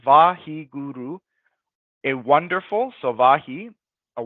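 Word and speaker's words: Waheguru: And so Vahiguru is consisted of four syllables. Vahiguru, a wonderful, so Vahi, a wonderful light that illuminates the darkness.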